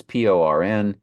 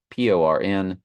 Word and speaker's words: porneuo: It's Porneuo. Strong's G 4203. Porneuo. Porneuo. And you see the pronunciation PORN-YOO-O.